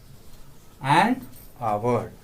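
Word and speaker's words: hour: जैसे for example an आवर, एच यहाँ पर साइलेंट हो रहा है, ये साइलेंट हो रहा है एच, इसलिए यहाँ पर एंड का यूज करेंगे।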